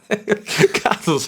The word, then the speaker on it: Cathal: I'm just intrigued by this pronunciation of Cathal rather than Cathal, but Cathal's a tremendous effort. But it's spelled that way, in fairness. How do you say it? Cathal. No, it's not Cole.